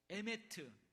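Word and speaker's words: אמת: 한번 따라서 해 볼래요 헤세드 에메트 이건 한국식 발음인데 원래 헤세드 메트는 히브리어에 히브리어이 구약 성경이 쓰여져 있는 히브리어 단어입니다이 단어는 이미 우리가 체험하고 있지만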